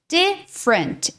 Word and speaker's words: different: Different. Esse E cai. Ou seja, ele é mudo, tá? Então, do F você já puxa pro R.